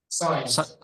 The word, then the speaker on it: sign: Sign.